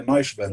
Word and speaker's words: Neuschwander: E Rivane Neuschwan? Ah, não, acho que é Neuschwander Nós, que se pronuncia.